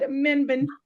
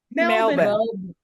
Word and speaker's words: Melbourne: Menburn. Pronounce it for me, Michelle. Melbourne.